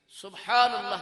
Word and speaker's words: سبحان اللہ: کیے دیتا ہوں کہ ہمارے دوست جو ہیں سبحان اللہ کا درست تلفظ نہیں کرتے. اس میں آپ دیکھیں کہ ہے کھا جاتا ہے. سبحان اللہ صحیح کہنا چاہیے، تبھی جنت میں درخت لگے گا.